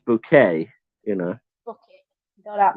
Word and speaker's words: Bucket: Yeah, well, and it's pronounced bouquet, you know.